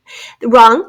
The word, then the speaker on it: wrong: Wrong. She called the wrong number. That is one of our silent W. Then R to make the R sound at the beginning of the word.